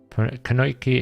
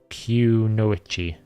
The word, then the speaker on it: Kunoichi: Kanoiki is pronounced Kunoichi.